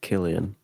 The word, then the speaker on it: Cillian: His name's pronounced Killian. Oh, I'm so Cillian or Killian.